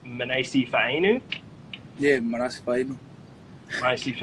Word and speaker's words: Manase Fainu: said to me that the commentators pronounce your name wrong is that true is it pronounced minase Eve a new yeah nice babe I